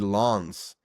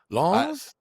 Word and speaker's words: Lens: I tried to pronounce it correct because I know I I think that's just pretty close. I could have said lens, but I know it's not No, that. So I think it's Lens.